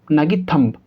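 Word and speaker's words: thumb: ये क्या हो जाएगा थंब ठीक है बी लिखा हुआ है तो यहां पर बी साइलेंट है तो यहां भी क्या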